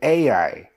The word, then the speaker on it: Ai: to the city of Ai. I believe that's how you pronounce it, Ai.